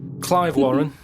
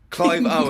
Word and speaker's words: Clive Owen: Clive Warren. That's Clive Warren! Who's Clive Warren? The one who was in Closer. Clive Owen.